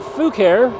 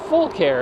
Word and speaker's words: Fucare: of you pronounce it Fu care because it spelled Fu C A but the company assured me that they want it pronounced full care as in they were full of care that's all the same